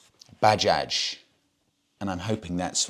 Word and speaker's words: Bajaj: bike of choice and it's not pronounced Baja because it is not a Spanish brand it's pronounced Bajaj and I'm hoping that's